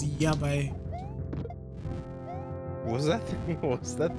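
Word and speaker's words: やばい: You're pronouncing Y's as J's. So I heard Jabai. So I said, Jabai. It's Yabai.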